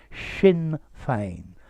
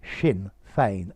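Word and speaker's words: Sinn Féin: became the leader of wait for the pronunciation of this shin fame that s i double n in irish shin feign an mp member of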